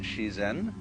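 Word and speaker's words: 自然: Dai ziran, or the Japanese pronounce it shizen, is roughly when they point to all the things happening around us, that's ziran.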